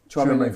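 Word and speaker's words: Tchouaméni: Chouameni from Monaco. Is that yeah. the right name to pronounce it? by the way? Chouameni, yeah. Chouameni.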